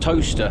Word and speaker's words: Towcester: It's Towcester spelt Towcester, pronounced toaster.